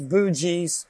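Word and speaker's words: Boonji: Like bougie, bougie. Bougie. Like, the bougie space. How do you say it? Bougie. B-O-O-N-G-I. There's an N in there.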